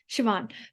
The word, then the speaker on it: Siobhan: with the amazing actress Saban. Yeah, That's how you say it, right? Siobhan.